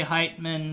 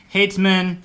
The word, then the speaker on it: Heitman: by heightened because people were more able to say height men than they always say and stuff like that but with height minutes